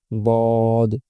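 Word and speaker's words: ض: আর দদ হরফটা উচ্চারণ করার সময় খেয়াল রাখতে হবে একটু মোটা করে পড়তে হবে। একটু গলার গভীরে নিয়ে পড়তে হবে। তাহলে দদ এবং দালের মধ্যে পার্থক্য চলে আসবে।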